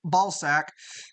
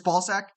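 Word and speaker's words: Balzac: in his story uh sarine balac uh balek I'm sorry it's it's ballzack it's ballzack ballzack okay yeah that was that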